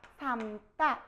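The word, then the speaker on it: 삶다: 아, 닭을 삼다 할 때는 뒤에 거 남기세요. 어떻게요? 삼따 이렇게 하는 거예요.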